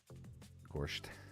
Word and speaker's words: Gorst: Gorsht. You should hear my buddy Upstate Al pronounce Jason Shaw's name, Jason Schur.